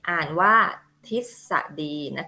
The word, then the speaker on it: ทฤษฎี: อิ ทิพย์ 2 อะ e d อ่าน ว่า ทฤษฎี นะ คะ ทฤษฎี ก็ อ่า ถ้า พอ พาน นะ คะ จะ ออก เสียง อะไร คะ ตาม หลัง พ.